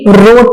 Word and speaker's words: wrote: इसका आप जब पास्ट टेंस बनाएंगे तो ये रोट बन जाएगा। W साइलेंट है, WROTE, रोट, लिखा।